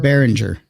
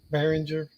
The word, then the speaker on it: Behringer: one i get the what how do you pronounce the first one of her hinger behringer behringer yeah shows what i know yeah it's it's